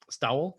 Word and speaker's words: Stowell: How do you pronounce it? Stowell.